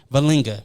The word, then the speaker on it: Vellinga: Uh, I got Marco Sanchez and MG Valinga. So, I'm The reason why I point at you is because your last name always throws me off. Did I pronounce that right? Yeah, you did.